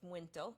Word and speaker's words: muito: So this is the very Portugal Manhattan, and it's pronounced muito, even though there's no N there, but it's just part of the pronunciation.